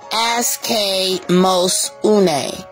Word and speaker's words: aschemosune: And the pronunciation for this word is askemosune.